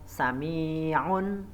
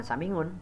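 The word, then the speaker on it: سميع: Yang berikutnya yaitu sami'un, bukan samingun, itu salah.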